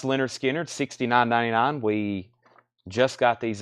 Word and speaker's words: Lynyrd Skynyrd: I also have a restock of Leonard Skynyrd pronounced Lynyrd Skynyrd 69.99 we just got these in I think